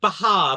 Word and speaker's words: Bachar: I don't know how to pronounce his name. Bahar, apparently, according to Bahar.